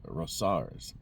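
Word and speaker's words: Rosauers: My aunt and uncle live there in Missoula, and my uncle goes to that Rosar's. That's how you pronounce it.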